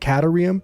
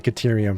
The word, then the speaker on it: caterium: right this time but I'm going to say caterium from now on I think it's I think that's the right right way to say it however so we